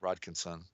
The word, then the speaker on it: Rodkinson: That's how you say it, Rodkinson.